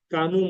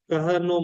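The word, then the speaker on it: Kano: So there's a kanu model. uh the pronunciation is Ka Kahano model.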